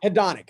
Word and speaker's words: hedonic: hedrick treadmill is that right that's how you pronounce the hedrick treadmill yeah hedrick or hedonic treadmill hedonic okay all right so explain to the audience